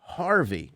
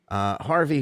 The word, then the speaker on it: Hervey: Lady Victoria Harvey, spelled Hervey. People in the comments from England told me, "You still say that Harvey?"